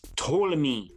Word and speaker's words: Ptolemy: the tournament dynasty it's ptolemy ptolemy dynasty the p is silent because that's how they